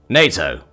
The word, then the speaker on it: NATO: 7.62 NATO 7.62 NATO NATO with a short a jack squinted his eyes